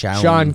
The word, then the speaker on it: Shaun: His name is spelled differently than normal Sean. It's like Shaun. It's like Sean King.